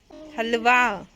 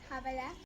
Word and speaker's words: हलवा: काशवी ना कई चीज़ वही सेम गलत प्रोनाउंस करती है। जो जैस छोटा था ना, तो वो भी गलत बोला करता। जब जैस छोटा था ना, वो भी हलवे को हबला ही बोला करता।